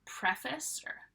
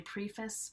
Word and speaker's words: preface: a section called the preface some people say preface but it's not it's preface that is prefixed to